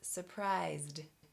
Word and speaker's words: surprised: This is surprisD, surprisD.